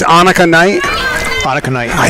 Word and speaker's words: Annika: And it's Annika Knight.